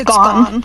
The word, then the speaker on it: Gohn: Is it Gohn or Going or could you tell me how it's pronounced? It's Gohn, like Gohn, Ms.